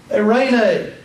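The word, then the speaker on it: εἰρήνη: The next one is epsilon, iota. Pronounced like the EI in the word 8. 8. The Greek word is eirene.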